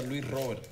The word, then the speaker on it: Luis Robert: Bueno, en Cuba siempre se pronuncia Luis Robert. Luis Robert Moirán. Sí, Luis Robert. Luis Robert. En los eventos nacionales que he ido casi siempre me dicen Robert.